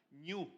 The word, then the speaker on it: ñu: el ñ el ñ no es que lo estoy pronunciando mal es que así se llama ñu ñu el ñu nace